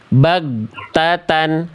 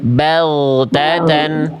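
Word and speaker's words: بَغْتَةً: Nah, kesalahan gin sukun Bunda ya itu yang harusnya dia sifat huruf gin itu apa? mengalir suara Bunda. Bunda baca terputus. Nah, jadi tadi Bunda bacanya begini, Bunda. Nih di buku nanti saya kasih contoh lebih banyak. Bunda tadi baca gini, bagatan harusnya bag. Jadi suaranya ngalir bagatan.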